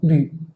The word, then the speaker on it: bu: Aquí se pronuncia vu, aquí se pronuncia bu.